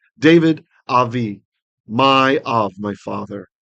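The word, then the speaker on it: דוד: Asher, which dibarta, you spoke, le'avdecha, to servant of Cha, to your servant, Dawiv, or David, we'd say, and with the Israeli Sephardic pronunciation, David, Avi, my Av, my father.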